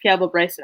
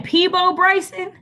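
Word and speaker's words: Peabo Bryson: They used Piabo Bryson a bunch. Yeah. Wait, there's all the people there. Wait. Are you saying Peebo Bryson? Oh, I always pronounce it Piabo.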